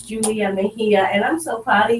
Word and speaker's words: Mejia: Yes, it's Julia Mejia, and I'm so proud of you.